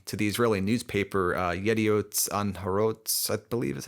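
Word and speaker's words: Yedioth Ahronoth: He gave an interview in December 2020 to the Israeli newspaper uh Yediot Anharot, I believe is how it's pronounced.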